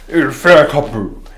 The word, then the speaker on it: Inferno Cop: you have to say it right. Inferno Cop. Kopu. Inferno Kopu is...